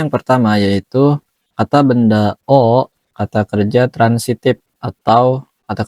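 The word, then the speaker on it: を: Bunkai yang pertama yaitu kata benda o. Kata kerja transitif atau kata kerja aktif. Wo untuk menunjukkan objek Wo dibaca O. Nah, meskipun ini huruf Wo, tapi ketika dia menjadi partikel maka dibacanya O ya, Teman-teman.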